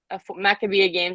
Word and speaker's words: Maccabiah: to say it the Mac yeah yeah so maccabia this is a full name but um it's